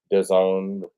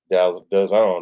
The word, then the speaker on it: DAZN: Devin Haney Regis Prograis DAZN pay-per-view. Did you know that DAZN rhymes with calzone? Calzone? Calzone. Calzone. DAZN rhymes with calzone.